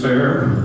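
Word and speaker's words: Fayre: So F-A-Y-R-E becomes fair or fairy. Not sure how they pronounce it, if they pronounce the E as an E or whatever.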